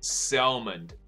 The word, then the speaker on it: salmon: 周一到周五英文一起读新闻，你大家已经知道了，就是大家用把名字改成鲑鱼这件事情，神经病。但不管，我们来看 Taipei Times 怎么说的，台北时报。那英文版它的标题就写了 Dozens change name to salmon，所以第一个字可能就会在发音上有点困扰你，因为这个字呢 S-A-L-M-O-N，那它的发音呢不是你看到 L 你会想说哦 L 不就是对 L 的音，那你可能会念成 salmon，可是不对，它的发音就是 salmon，那它就是鲑鱼。我们知道香港人说成三文鱼，因为它的发音就像三文 salmon 这样子，所以好像叫三文鱼，但 doesn't matter。鲑鱼 salmon